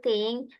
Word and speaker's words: think: And yang ini juga, what do you think?